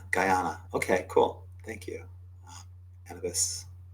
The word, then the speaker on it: Guyana: Yes, it's pronounced as Guyana. Guyana.